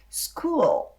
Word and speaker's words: school: E aí você tem que produzir o som da letra L. Então, a pronúncia correta da palavra escola é school.